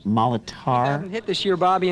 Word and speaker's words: Molitor: It's pronounced Molitor.